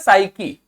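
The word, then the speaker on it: psyche: साइकी आपका root word तो है ही, साथ साथ ये साइकी आपका खुद में भी एक शब्द है।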